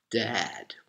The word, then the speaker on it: dad: said i'm your father dad you have the a sound um like an ah dad all right you open your mouth um vertically like this dad and then you have